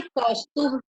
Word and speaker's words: कौस्तुभ: अब ए को हमने हटा दिया, नहीं तो क्या हो जाता? कौस्तुभा, कौस्तुभ।